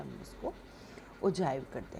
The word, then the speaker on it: ogive: Cumulative frequency curve या ओजाइव। हम इसको लिखते ओजी हैं पर स्पेल हम इसको ओजाइव करते हैं। स्पेल हम मतलब ओजी करते हैं पर प्रोनाउंस जो है हम इसको ओजाइव करते हैं।